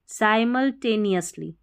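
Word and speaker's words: simultaneously: साई, अब देखिए इसको सी नहीं पढ़ना है, साइमल MUL साइमल साइमल्टेनियसली ऐसे तोड़ के पढ़ना है इसको।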